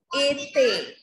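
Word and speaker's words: été: This word would be pronounced as ete. Ete.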